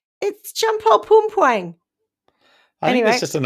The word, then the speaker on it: Champol Pumpuang: Chump. I knew you'd laugh at my pronunciation. It's Champol Pumpuang.